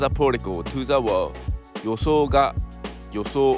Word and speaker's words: 予想: Yoso, it means prediction, expectation. In Japanese, there is no accent kono in the word. This word is classified under the first type of pitch accent.